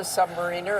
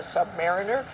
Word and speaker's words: submariner: As you said, he was a submariner, a submariner. They pronounce it either way, but he adored service in the Navy.